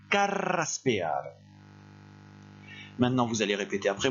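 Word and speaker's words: carraspear: ne prononcez pas ce verbe et la se prononcent carreras ce pea maintenant vous allez répétez après moi car race pea n'hésitez pas exagérer la prononciation une dernière fois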